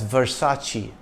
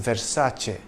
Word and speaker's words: Versace: the brand name is often mispronounced as Versace but the correct pronunciation is Versace it's certainly not versus or Versace you see in Italian C is pronounced CH when it is followed by e or I in 1994 the black